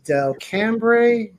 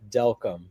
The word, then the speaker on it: Delcambre: your last name correctly Dell cambre am I saying that right Ry CL really close it's it's delcom delcom delcom it rhymes with welcome delc okay all right